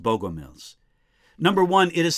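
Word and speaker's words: Bogomils: Sometimes in the literature, I find their name written with an E in it and sometimes without, but I think it's pronounced Bogomiles.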